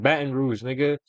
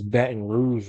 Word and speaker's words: Baton Rouge: __ ] saying it wrong bro it's Baton Rouge my